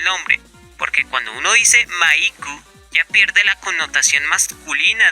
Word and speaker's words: Maiku: pendejadas, pero que estas se refutan con la pronunciación en japonés del nombre, porque cuando uno dice Maiku, ya pierde la connotación masculina del nombre Mike.